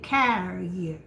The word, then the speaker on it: carrier: So when it's a dog carrier, you say carrier.